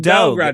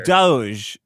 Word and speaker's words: Doge: Yeah, but the thing is not dog. It's doge.